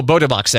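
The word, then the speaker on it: Bota Box: yeah bottom box yeah i say botta box oh botobox actually so you said it correct there i did say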